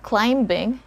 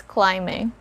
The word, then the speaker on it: climbing: so it's not climbed we don't sound the letter b here even if we attach you know on e d or ing after this word the letter b remains a silent letter so it's not climbing it's climbing let's have an example